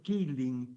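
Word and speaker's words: Caoilfhionn: nombre muy complicado porque se escribe algo así como kao Fion Rose y entre paréntesis ponían que se debe pronunciar killing, pero bueno, la verdad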